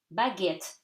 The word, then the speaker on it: baguette: Baguette, so you read the T, okay? And at the end, you do not read the E, is silent. So baguette.